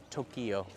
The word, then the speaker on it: Tokyo: pronunciation say the name of the city as Tokyo it's actually two syllables I always catch him on that one